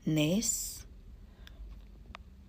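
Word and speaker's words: נס: In Hebrew it's pronounced as nes.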